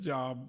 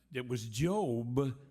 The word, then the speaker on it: Job: It was Job, and I called it Job.